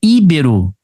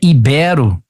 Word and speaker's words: ibero: arquétipo na letra D não é íbero é ibero Então tudo aqui eu tô